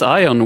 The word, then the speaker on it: Ion: pleasure to be here I did the American pronunciation of your name yeah I are you from Romania yes yes so technically in Romanian it's ion but uh yeah just